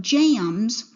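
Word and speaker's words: jambs: these are called jams you just don't really pronounce the b but jams later these will be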